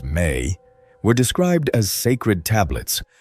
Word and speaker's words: me: The me pronounced may were described as sacred